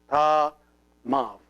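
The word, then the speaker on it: ⲧⲁⲙⲁⲩ: See this letter, which is the epsilon, is here pronounced like a V because it is preceded by an alpha. So if it is preceded by an alpha, it is pronounced like a V. So this one becomes ta mav.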